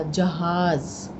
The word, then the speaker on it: जहाज़: आपके दूसरे ज में नुक्ता है तो तब हम बोल रहे हैं ज, जहाज़। ठीक है, अगर आप नुक्ता नहीं लगाएंगे तो जहाज हो जाएगा, जहाज़ नहीं होगा।